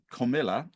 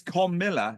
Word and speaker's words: Kamala: there's been a bit of a shift and kamila ham and not I got her name pronounced correctly according to who it's comma Harris it's that's Kamala Harris Kamala you call me lit toic my